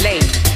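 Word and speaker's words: לב: The Hebrew term for the word heart is pronounced lev, meaning the feelings, the will, and the intellect of man.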